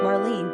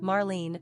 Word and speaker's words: Marlene: Throughout the 1930s and into the early 40s, Marlene became a top 100 favorite girls' name in